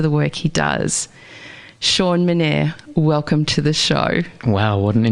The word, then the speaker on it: Menere: So, yeah, no, it's it's Menere, yep.